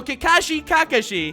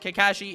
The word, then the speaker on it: Kakashi: And since no one is ever happy with how I pronounce him in any videos, I'm gonna call him both for this entire video. So Kakashi.